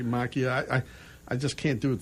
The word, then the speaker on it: Macchia: They would pronounce it Macchia. Yeah. My years of Italian class would tell me Macchia.